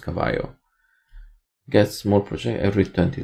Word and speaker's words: Cavallo: I think in Italian it's pronounced Cavallo.